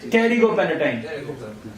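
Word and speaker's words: pterygopalatine: Don't say pterigo. P is silent. Pterigo palatine.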